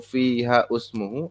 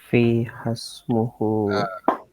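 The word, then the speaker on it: فيها اسمه: Fiha ismuhu atau fiha usmuhu atau fiha asmuhu atau gimana? Fiha ismuhu. Langsung fiha ismuhu. Si ininya diiskotkan nih. Ini dihilangkan. Fiha haknya masih di sini kan ada alif juga ya.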